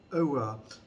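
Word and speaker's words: oeuvre: Unless your range of texts consists in the complete over. अब इसकी pronunciation जो है over भी है और ov भी, दोनों प्रोनाउंसिएशन है इसकी, ये आप चेक कर लीजिएगा डिक्शनरी से।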